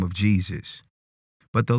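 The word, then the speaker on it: Jesús: To this day, the Spanish pronunciation of Jesus is Jesus.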